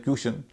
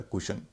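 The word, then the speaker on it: cushion: कुशन इसमें भी यू से पहले सी है जिसका उच्चारण क है। नियम से उच्चारण होना चाहिए। क्वशन होता है कुशन।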